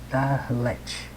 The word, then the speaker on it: dalet: Pronuncia-se dalet e tem o som de um D, como em dado, né?